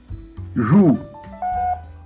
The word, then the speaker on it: jou: Joue. Joue. The first sound is like that of the English words pleasure and leisure.